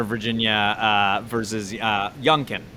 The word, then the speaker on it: Youngkin: virginia uh versus uh youngkin is how you say his name yeah yeah then from